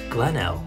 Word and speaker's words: Glenelg: l merrill oh yes what's the point in having that g on the end if you're just not going to use it when l where did the last g go glennell where's the g cop